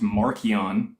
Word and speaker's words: Marcion: Mark is more than likely just a play version of the gospel from Marcion, or pronounced Markion when he was alive, or in ancient Rome.